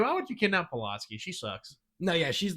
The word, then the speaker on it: Pulaski: She did not give two shits, which that is one thing about Polanski is like, she's like, or Pulaski. How do you say Pulaski? Pulaski. Thank you. Pulaski.